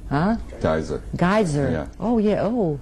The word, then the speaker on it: Geyser: You know, and you go through all, take a sip and say, there's nothing like crystal, how do you pronounce that? Geister? Gister? Huh? Geyser.